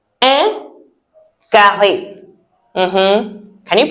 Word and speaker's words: carré: The first shape that we will look at is un carré. Un carré. Mhm. Can you pronounce it out the way I said it?